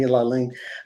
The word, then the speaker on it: Lalane: Now, did I pronounce that right? Yes. Okay, Destiny Lalane.